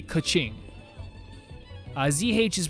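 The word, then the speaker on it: Keqing: say like catch ski k e q i n g would be like a kaching uh zh is pronounced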